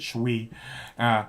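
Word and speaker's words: Shu Qi: Her name's Shuqi. I pronounce it Shui, because and she's great.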